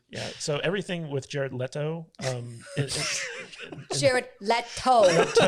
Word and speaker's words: Leto: so everything with jared leto or lido i know you're really trying and it's hilarious how bad you are pronouncing that i have a hard